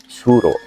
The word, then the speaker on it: Suro: Kata Asura dalam pengucapan lidah orang Jawa berubah menjadi suro.